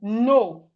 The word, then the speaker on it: know: N-O, no. That means no. When you disagree with someone, you say no. Y-K-N-O-W? K-N-O-W is no.